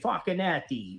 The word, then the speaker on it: Facchinetti: DJ Facchinetti. You remember that guy? That's literally how you pronounce his name.